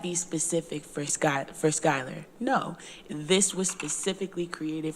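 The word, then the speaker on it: Schuyler: to put this in shott County I always say it wrong Skyler yeah we could we could we could try to take this particular work product and go to shyler Skyler county and say to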